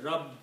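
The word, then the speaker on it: رب: you are stopping, you say Rabb. You have to make sure that the sound of Ba comes twice from your lips.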